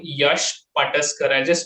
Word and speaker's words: Pataskar: out on Instagram it is my name Yash pusar I'll just spell it out because it's a Indian name so